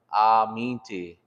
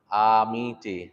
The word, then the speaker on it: Aminti: But I guess the biggest thing is to remember that when you say I'm from somewhere, you want to kind of exaggerate that a little bit. Aminti, Aminti.